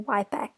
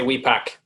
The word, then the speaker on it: Wipak: as we pack or wipe we actually say we pack so um and and